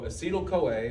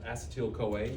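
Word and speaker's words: acetyl-CoA: So, acetal COA or some people pronounce it acetil coa. Either one's fine.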